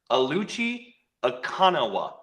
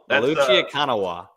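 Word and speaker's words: Oluchi Okananwa: It is officially, according to Duke's notes last year, Aluchi Akanawa. Okay, so the second N is gone in the pronunciation. Akanawa. Aluchi Akanawa.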